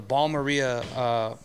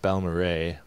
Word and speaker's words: Balmorhea: pedals arena corner and I'm here with the ball Maria player who made the rock music in Philly